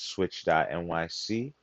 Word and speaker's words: PSwitch.nyc: That's switch.nyc, PSwitch.nyc. Don't forget that P is silent.